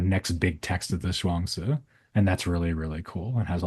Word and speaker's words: Zhuangzi: So that's spelled, I hope I get this right. So it's like Zhuangzi, Mm. Zhuangzi.